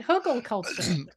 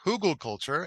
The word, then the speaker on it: Hugelkultur: Hugelkultur. I first heard it pronounced Hugelkultur, and that seems to be how I hear it the most.